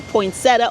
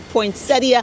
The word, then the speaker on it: poinsettia: I hope you got a lot of good information on how to take care of your poinsetta or poinsettia, however you want to pronounce it.